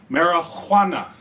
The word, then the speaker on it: Marihuana: Now, I'm really enunciating the Juana in the marijuana because this movie was made before the invention of the letter J, I suppose, because it's spelled with an H.